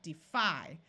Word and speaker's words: defy: The time when it has a long I sound is when the syllable is accented. So right here we have defy.